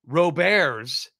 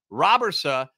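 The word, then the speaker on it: Robberse: pronunciation of Roberson or Roberts is still up in the air now I've heard it pronounced multiple ways Roberson is how he himself pronounced it in a video that he did I did tweet that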